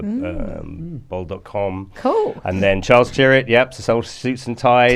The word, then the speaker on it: Tyrwhitt: So you've previously been at Aspinall and Charles Tyrwhitt.